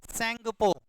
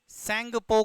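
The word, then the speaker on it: Tsangpo: Brahmaputra river को तिब्बत के अंदर कहा जाता है सेंगपो, सेंगपो कहते हैं इसको, सेंगपो, टी साइलेंट होता है।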